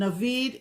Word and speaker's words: Navid: And Navid is like David, only with an N.